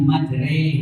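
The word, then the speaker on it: مجريها: ayat 41 itu ada Bismillahi majulis ituu Tapi bacanya ternyata Bismillahi majre itu namanya Imal kemudian di Surah Yusuf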